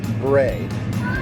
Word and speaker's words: braai: All right, so we call it barbecue or grilling, and here they call it braai. Right? Braai? We don't know how to say it.